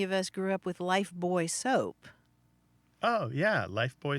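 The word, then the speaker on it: Lifebuoy: boy rather than life it kept the British pronunciation even though we also have that product here in the United States yes that had puzzled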